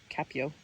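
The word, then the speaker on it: копьё: It is derived from the Russian word for spear, kope, pronounced kapyo, in reference to a warrior piercing a dragon with his spear, a scene depicted on early Russian coins.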